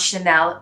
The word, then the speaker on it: Chanel: difference so number six is chanel most people pronounce chanel properly as well even in the english would